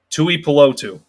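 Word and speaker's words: Tuipulotu: tu is uh well his last name again tui pelotu is the correct pronunciation so bringing up marlon's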